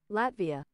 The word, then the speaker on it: Latvia: internet internet how do I say how to pronounce yes I'll do ready everyone Latvia oh I was right holy